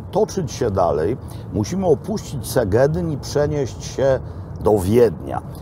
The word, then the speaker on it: Szeged: Otóż po węgiersku, jak jest SZ, to nie czyta się S, tylko S, a jak jest samo S, to właśnie wówczas czyta się jak SZ nasze, czyli jak sz. Zatem Segedyn to jest polska nazwa miasta, które właśnie opuściliśmy, albo też Seged, jak się chce powiedzieć po węgiersku, a nie Szeged, ponieważ Szeged, Szeged oznacza